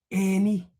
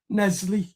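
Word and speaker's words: En-Nesyri: In this video, we're going to discuss that Everton are interested in Benfica striker Ysef and Ernie. I think I think that's how you pronounce it. Nesley. Nesley.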